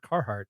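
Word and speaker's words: Carhartt: for us so I'm proud of you for pronouncing it carart you're welcome I didn't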